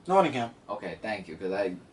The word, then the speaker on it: Nottingham: And then they go to, I hope I say this right, Nottingham? Nottingham.